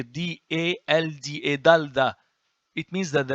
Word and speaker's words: dalda: You see, not delta, dalda, and here D-A-L-D-A, dalda.